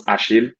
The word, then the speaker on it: Achille: my name is ashil so pronounce ashil in the French way uh because in Nigeria